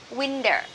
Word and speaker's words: winter: autumn winter winter and remember this T here we stress in the first syllable wing so for the team that is not stressed we can say the sub subt subti in American English so we so we can say the winter winter now this is season